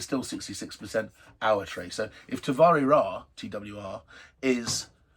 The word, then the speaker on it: Awatere: And that's the region here which, depending on who you are, is pronounced Awatere, or as I pronounce it, because most of the Kiwis I know pronounce it this way, Awatere.